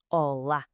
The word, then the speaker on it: olá: E atenção à pronúncia, com aquela sílaba tónica bem marcada no fim, olá.